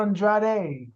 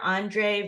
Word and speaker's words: Andrade: real pronunciation yeah so for the men for the fell is yeah Mr Sir Andre for the ladies sir Andrade and because you have your trainer Andre Ros I always call him Rosier so Andre y it's just so much sex when you roll it off the and then you know I'm K veran and so that's how they pronounce it but when you come to the of course the US is um Andre and so like I